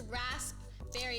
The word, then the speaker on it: raspberry: am I crazy oh because it's raspberry if you don't say it like that right the Pea is like I was looking